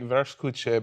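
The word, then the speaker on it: Wurstküche: There's a place in LA called it's pronounced like Verskuche, but it's spelled worst cooch.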